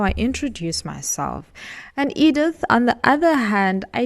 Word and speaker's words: Edith: old grannies, and I just hated how people pronounced it. Edith. I'd be like, it's not Edith, it's Edith.